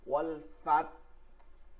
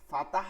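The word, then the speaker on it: والفتح: ফা দিয়া, তাহলে তা যেহেতু ডিরেক্ট জজম আছে তাকে আপনি 70%, ঠিক আছে, 70% আপনি উচ্চারণ করবেন তাকে, ওয়াল ফাত, আর 30% উচ্চারণ করবেন হচ্ছে কি হাকে, ওয়াল ফাত ওয়াল ফাত ওয়াল ফাত ফাত ফাত ওয়াল ফাত ওয়াল ফাত, ফাতাহ বলা যাবে না কিন্তু, ফাত ফাত একটু হা উচ্চারণ করলেই হয়ে গেছে, আদায় হয়ে যাবে।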